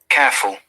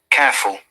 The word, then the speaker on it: careful: Okay, I'm sure you have understood the difference, because an American must pronounce R sound, which is why American English is called rhotic English. And in British English, in most of the cases, we do not pronounce R unless the R is at the beginning of any word or in between two vowel sounds.